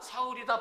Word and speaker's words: 사울: 근데 이제 이 사울이라고 하는 요거는 헬라식 발음이에요. 헬라식 발음. 그리고 샤울이라고 하는 것은 히브리식 발음입니다. 그러니까 이걸 기점으로 해서 이거다, 사울이다, 바울이다, 이렇게 이야기를 하는